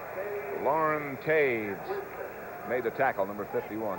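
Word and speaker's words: Toews: Lauren Taves made the tackle, number 51. That's spelled T-O-E-W-S.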